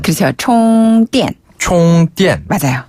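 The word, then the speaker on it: 充电: 총띠엔 총띠엔 맞아요. 네.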